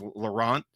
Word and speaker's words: Laurent: I think they gave me I keep saying his name wrong and they corrected me. It was Laurent.